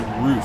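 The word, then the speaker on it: Ruf: And then there is the, I guess it's Roof is how you pronounce it accurately. I think I said Rough in the last video.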